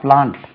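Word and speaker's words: plant: என் டி நவுனும் அதான் பிளான்ட் பி எல் ஏ என் டி அது பிளான்ட்ன்னு சொல்லக்கூடாது பிளான்ட்ன்னு பி எல் ஏ என் டி பிளான்ட் பிளான்ட் demand command எல்லாமே ஆ என்றுதான் உச்சரிக்க வேண்டும் பிரிட்டிஷ் இங்கிலீஷில் ரைட் சோ பட் ஜெனரலா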